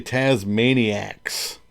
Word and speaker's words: Tazmaniax: I pronounce the X. Tasmaniacs. Because anybody who follows me is a maniac. Right? So, maniacs. I went with the X. Some people don't pronounce it. They just call me Tasmania, which would be Australian.